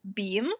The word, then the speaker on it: B3am: Well, but yeah, it is pronounced beam.